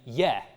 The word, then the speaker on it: ge: The g becomes a y when there is a certain kind of vowel after it. So in Old English, this prefix, though it's written as a ge, is pronounced as a ye.